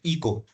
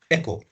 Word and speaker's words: echo: हम लोग पढ़ते हैं ना, जो साउंड में इको होता है, मीन्स कंटिन्यूअस आवाज रिवर्ट होती है, that is known as इको, नहीं एको। क्या है करेक्ट प्रोनाउंसिएशन? एको।